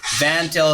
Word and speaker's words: Van Til: So Van Til is Vantil. Van Til.